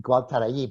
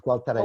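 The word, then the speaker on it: Gualtallary: technical name for it, and Gualtarají, pronounced Gualtaraí, but pronounced locally as Gualtarají.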